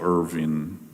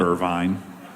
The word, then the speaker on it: Irvin: witnessed something that Michael Irving I can't say his name is Irvvin Irvin. Not Irvine. Not Irvine and not Irving. No, it's Irvin.